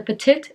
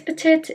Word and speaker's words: Petit: and it's pronounced as petite so it sounds like the second t is pronounced but it's really not um i'm just gonna